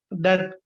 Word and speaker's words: debt: Don't say death, huh? Debt. Yeah, Okay, because I we can't say debt. Okay, will never say debt. It is debt.